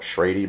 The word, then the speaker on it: Schrade: my new knife by, I believe it's pronounced Schrade. I've heard somebody call it Schrady before. I don't know. I don't really care. I'm going to call it Schrade.